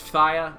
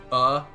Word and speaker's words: Phthia: Phthia, Achilles' faction. Yes, it is pronounced Phthia. That's F sound. Thigh as in your leg. Phthia.